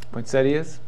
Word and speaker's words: poinsettia: Poinsettias? They're actually pronounced poinsettia.